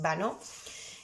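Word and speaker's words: Banneux: pueblecito también muy pequeño, que se llama Banó, y fonéticamente en español se escribe Baneux, terminado en X y con dos Ns, lo digo para los que lo queráis buscar, ¿vale? Pero bueno, la pronunciación francesa más o menos es Vanneau.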